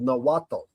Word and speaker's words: Nahuatl: Aztecs was called Nahuatl, and the TL is sort of pronounced ta, right? So Atlanta kind of even has that at the end of the name, but the TL sort of sound that comes through Nahuatl is kind of like all of the things